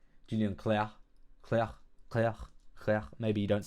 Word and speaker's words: Julien Clerc: His name is pronounced like the word Claire, which means light. Julian Claire.